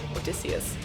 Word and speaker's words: Odysseus: That's how you pronounce it in Greek, Odysseus.